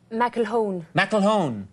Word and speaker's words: McElhone: alone next vena I was a little nervous about pronouncing your name because it's got a very strange spout am I saying it right Mack alone McElhone McElhone alone I'm coolin so